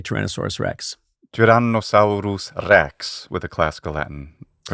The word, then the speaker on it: Tyrannosaurus rex: Janos Sauerus Rex with a classical Latin.